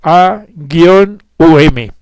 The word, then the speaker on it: Om: inicial om o aú om es un velo porque la frase manú no consta de seis partes sino de siete sílabas Pues la primera sílaba es doble y debidamente pronunciada es a gu um y tiene esencia trina